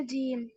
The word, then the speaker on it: ج: সবার কাছে আরেকবার বলছি দেখেন জিহ্বার মাঝখান তার বরাবর উপরে তালুর সঙ্গে লাগিয়ে শক্ত আওয়াজে জিম অক্ষরটি উচ্চারণ হবে জিম তিন আলিফ টান হবে সবাই একসাথে এই জিম